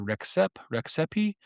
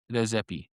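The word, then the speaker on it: Rexhepi: And you're going to hear it pronounced a bunch of different ways. You're going to hear Rexepi. My understanding is that it's pronounced Rezepi.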